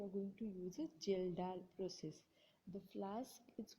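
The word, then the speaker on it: Kjeldahl: in a long neck geldar flask. It is pronounced as a geldal flask.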